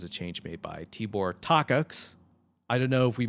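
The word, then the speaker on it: Takács: change made by tibor tox i don't know if we mentioned that earlier but that's how he pronounced his name it's not the cox even though that's how you want to say it um but tibor we'll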